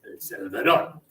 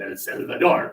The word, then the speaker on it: El Salvador: The proper pronunciation of El Salvador is, as you say it, get quicker with your syllables and louder. It is not El Salvador. What are you talking about? It is El Salvador.